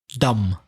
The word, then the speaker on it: dumb: Dumb.